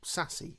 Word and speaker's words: SASE: our businesses changes too what is sase or sassy as it's pronounced so firstly it's important